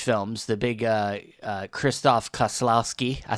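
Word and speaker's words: Krzysztof Kieślowski: the uh Polish films the big uh uh Kristoff Kaslowski.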